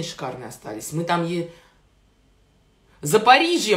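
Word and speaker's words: Запоріжжя: остались мы там ей за париже мне сказали что так правильно говорить за по регионе запорожье запорожье это на русский лад да она украинские за париже о ком речь на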